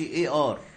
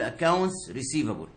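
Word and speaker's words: A/R: يكتبوا ايه سلاش ار، بس ما تتنطقش ايه ار، يعني انت هتكتبها بايدك ايه سلاش ار، لكن لما تيجي تنطقها بلسانك تقول اكاونتس ريسيفبل، مش عايزك تنطقها وتقول ايه ار، مفيش حاجه اسمها ايه ار، ملهاش معنى عند بتوع الاكاونتنج، اسمها اكاونتس ريسيفبل، لكن وانا بكتب اكتبها ايه سلاش ار.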